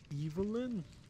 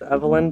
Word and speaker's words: Evelin: Uh, it's technically pronounced Evelyn, but I don't mind.